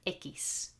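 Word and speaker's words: equis: one x okay which is nice it's called ekis has got two sounds two possible pronunciation the most common it's like a k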